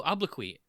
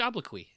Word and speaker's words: obloquy: That QUY is really interesting to me. Yeah, it's the same ending as soliloquy.